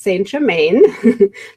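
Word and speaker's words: Saint Germain: about is sorrow mom English of course it would be pronounced st. Germain let me see if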